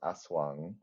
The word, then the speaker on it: Aswang: So I'm like it's probably not Wang as in like European way of reading that. So yeah. Yeah. Um it's it's yeah it's it's pronounced yeah it's pronounced aswang.